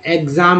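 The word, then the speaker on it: exam: लेकिन जब word meaning ई एक्स से स्टार्ट हो तब भी दोस्तों इसका उच्चारण एक्स ही होगा। जैसे यहाँ पर एग्जाम में लिख रहा है, एग्जाम, एग्जाम, ठीक है।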